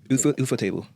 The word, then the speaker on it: Ufotable: The other 2 is UFO table.